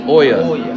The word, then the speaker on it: Olla: pronounce it yeah it's Oya so the two L's make a y sound in Spanish o so it's Oya it's not OA no o but it's